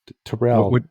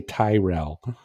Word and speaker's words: Terell: to no you are you pronounced it correctly Terell not because a lot of people say Tyrell oh yeah you ain't